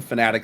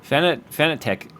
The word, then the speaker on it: Fanatec: I like the Fanatic stuff. Do you like the Fanatic stuff? Fanatec, actually. But I've heard it pronounced both ways. Yeah, they themselves pronounce it Fanatec when I talk to them.